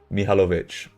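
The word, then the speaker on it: Mihajlović: Mihajlovic. No worries, mate. Dazbala, mate. You just made that more confusing. Mihalovic. Yeah, blue cards. Oh yeah, it makes sense now you say it like that.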